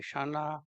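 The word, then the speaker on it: क्षण: often in English books they will write it as KS and where K silent in pronouncing so it is closest in English will be Shana or correct CH so out of that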